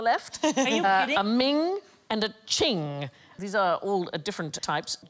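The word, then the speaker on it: Qing: will get there eventually it rhymes with bling thing thing I like thing most expensive Chinese item ever sold at auction is a Ching vars it went for 43 million pounds in 2010.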